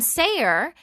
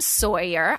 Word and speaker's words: Sayer: My son Sayer is just Sayer. Like, I'm like, you know what? We are going to really sound this out phonetically here, right? So everyone calls him Sawyer. I'm like, do you see a W?